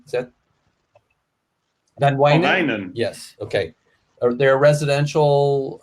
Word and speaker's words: Van Wijnen: Holland, there's I'm not sure I'm going to pronounce it correctly, Van Wingen? Is that? Van Wijnen?